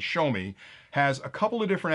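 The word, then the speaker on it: Xiaomi: this quad is that zomi or a shomi I always mispronounce that because it sounds like it should be zomi but it's show me has a couple of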